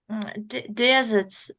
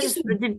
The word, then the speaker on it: dessert: They gave us some of them their desserts, десерты. I got it. Yes. So we write it like that. И обратите внимание ударение на второй слог. Desserts. Dessert. Я думаю, Какие desert.